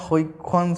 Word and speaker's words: Huygens: तो फिर 1678 में डच साइंटिस्ट थे क्रिश्चियन हाइगन्स, हम लोग हाइगन्स बोलते हैं बट एक्चुअली ये डच वर्ड है हुइक्सन्स, कुछ अजीब टाइप का जो मैं प्रोनाउंस खुद नहीं कर पाता, तो तुम लोगों से भी एक्सपेक्ट नहीं करूँगा, ठीक है।